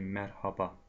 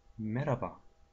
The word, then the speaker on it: merhaba: В турецком языке слово как пишется и так читается. Но, к сожалению, мы тоже как вы, как все русские, сокращаем слова. Поэтому на улице мы не говорим мерхаба. В основном говорим как мераба.